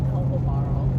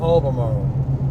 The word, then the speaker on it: Albemarle: It's pronounced Albemarle. Albemarle.